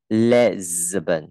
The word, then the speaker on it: Lisbon: Lisbon, okay. Lisbon. Lệ đọc là Lisbon, không được là Lisbon, Lisbon nhé.